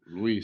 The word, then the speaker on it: Lewis: Lewis Carroll. Lewis, no sé. És com un Luis. És com un Luis, però en la E molt xicoteta.